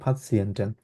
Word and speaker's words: Patienten: Patienten, এটা যদিও পেশেন্ট ইয়ে, কিন্তু উচ্চারণ হবে Patienten।